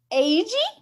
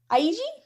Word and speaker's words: Eiji: was our episode about machida keda and akaso aji aiji sorry we know it's our pronunciation is terrible i'm sorry i'm sorry i